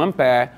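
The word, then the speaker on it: ampère: Como a pé é uma palavra francesa, há muito tempo o S deixou de ser pronunciado na França. Você continua escrevendo S, mas você não pronuncia.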